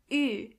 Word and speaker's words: Ü: This letter is pronounced Ü. To get the sound, start with a normal U and then make your lips even closer to each other.